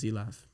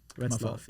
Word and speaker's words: Retzlaff: everything got started with Zlaff. That's not how you say it either. Zlaff. It's the last half of my last name. Retzlaff.